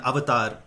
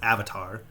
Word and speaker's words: avatar: avatar comes from that's the root and even avatar you know you guys pronounce it as avatar but it's pronounced avatar means oh thank you